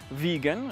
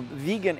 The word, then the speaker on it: Viggen: Viggen, it sounds like vegan, you know, the people that You know the deal, right?